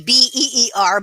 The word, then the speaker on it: Bier: And then Bier, B-I-E-R. The J Beer.